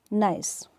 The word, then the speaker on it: gneiss: Now next is नाइस. Spelling is GNEISS. इसे pronounce करते हैं नाइस.